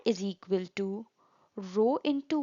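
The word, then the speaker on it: rho: L by a where row is the constant of proportionality here the symbol is pronounced as row and is constant of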